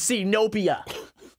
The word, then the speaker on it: Zenobia: yeah my name is Zenobia yeah her name it's sino Pia it's actually a really cool name it sounds like a xenophobia just with like some syllables cut out are you gonna like